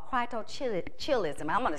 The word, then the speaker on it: cryptorchidism: And part of that is from a condition called cryptorchidism. I'm going to spell it for you.